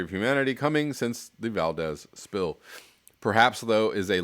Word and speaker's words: Valdez: the scale of the exxon valdez spill or valdez if you want to pronounce it even somewhat closely to how it should be um which horrified an